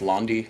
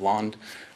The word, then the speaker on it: Londe: Our last name, bafflingly pronounced Londe instead of Londe, and we have no French origins.